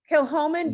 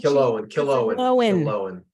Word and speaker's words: Killowen: Kilhoman The- does not do poutine. Killowen. Get your Oh. H out.